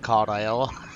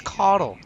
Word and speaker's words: Caudle: He says Caudle. I told him it's Caudle.